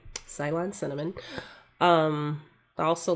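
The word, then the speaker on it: Ceylon: I'm not a black coffee drinker, so I can't drink black mushroom coffee, but I will um add a little salon cinnamon to it.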